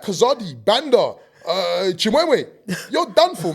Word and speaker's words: Kazadi: voice you know hi my name is kazadi what sorry kazadi could you spell that for me kilo Alpha Zulu Alpha Delta